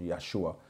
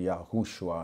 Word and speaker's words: Yeshua: replace the J with the why which becomes Yeshua some people mispronounce it and say yahushua and all kinds of names but the thing